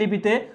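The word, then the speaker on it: ঌ: কিন্তু পরবর্তীতে এসে এই 51টি লিপিকে পরবর্তীতে 50টি লিপিতে রূপান্তর করা হয় এবং একটা লিপি বাদ দেওয়া হয়, যেই লিপির নাম ছিল হচ্ছে কি?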